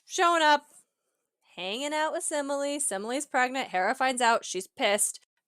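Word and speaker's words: Semele: the Ian dress so simile okay Emily with an S at the front of it so Zeus and simile and now DJ do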